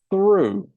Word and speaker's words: through: Now the past of this is pronounced through, and we make an oo sound like in the end of you.